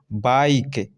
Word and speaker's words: bike: ठीक है, तो देखो बाइक, यहाँ ई की चर्चा नहीं हो रही है, ओनली लिखा गया है, बोला नहीं जा रहा है। बाइक, BIKE है बाइक।